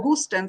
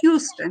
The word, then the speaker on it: Houston: I used to say H-O, Houston. So he said, no, Houston, you have to say Houston.